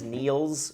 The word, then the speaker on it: Niels: It is Niels with an S.